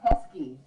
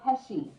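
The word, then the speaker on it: Pesci: Dad what about that Joe pesky no it's Joe pesy yeah but you know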